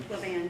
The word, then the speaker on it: Levin: Levin has been in the, am I pronouncing it right? Levin, yes. Levin.